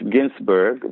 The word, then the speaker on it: Ghinsberg: yeah very easy in my last name is spelled with H so it's Ginsburg but it's gh IMS BER